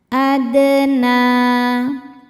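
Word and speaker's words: أدنى: Adna, na mad tabi'i muqaddar karena ada nun berbaris fathah panjang. Cara bacanya panjang 2 harokat.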